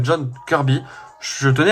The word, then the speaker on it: Kirby: Vu que la prononciation de John Kirby, c'est Kirby. Hein, et pas Kirby.